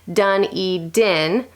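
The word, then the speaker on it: Dunedin: how you pronounce it we have one here New Zealand done e DIN and glad you got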